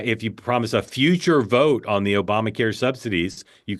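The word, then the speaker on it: Vought: Vote.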